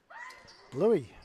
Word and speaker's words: Louis: And going to the line is Lewis or Louis. I'll have to figure that out in just a moment. How will you pronounce that? Louis. Louis. Oh, I got it right the first time. Yeah. Well, it could be Lewis as well. Correct. But we'll go the French.